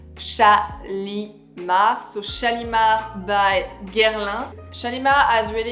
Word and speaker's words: Shalimar: And he has something a little bit oriental also in the name, but in France we pronounce Shalimar.